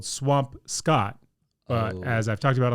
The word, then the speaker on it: Swampscott: It's spelled Swampscott, but as I've talked about on this podcast before, in Massachusetts, nothing sounds like correctly the way it looks.